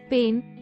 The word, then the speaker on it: pain: the French word for bread pain is pronounced the same as the English word pan 48.